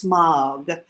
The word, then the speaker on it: Smaug: about how you pronounce Smaug. The A-U, it's spelled S-M-A-U-G, Smaug. So whenever you say in English, whenever you say an AU, your jaw actually drops down and your mouth opens.